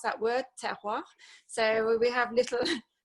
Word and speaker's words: terroir: I'm sure you can say it really well anyway, but it's like tear a bit of paper, so just tear, and then you just go, wah.